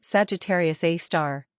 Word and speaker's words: Sagittarius A*: The supermassive black hole at the center of our own Milky Way is called Sagittarius A*, pronounced Sagittarius A star.